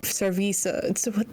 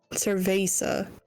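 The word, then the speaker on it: cerveza: you guys go serve cervisa. No, what did the fan say? Cvesa. Cervesa. It's like more of an a sound than an e. When I first read it, I said curvvesa just that's curvasa.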